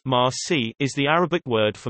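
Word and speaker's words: المسيح: The New Testament records the Greek transliteration Messias, Messias twice in John, JN 141, 425, Al-Masi, proper name, pronounced Ma-si, is the Arabic word for Messiah.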